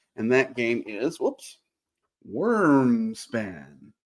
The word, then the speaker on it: Wyrmspan: that game is whoops worm span there you go that's worms span spelled with a why like it should be um because it's